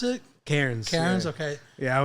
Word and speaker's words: Cairns: Cairns, like, how you pronounce it? Cairns. Cairns, yeah. okay. Yeah, Not Karens, like the ones that are cool when you're doing something bad.